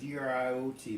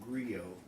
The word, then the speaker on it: griot: agree agree oh well grr OT but is pronounced grill a story teller in